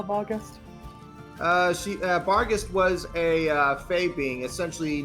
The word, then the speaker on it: Barghest: Bargast was a fae being, essentially known for being a wolf of bottomless hunger.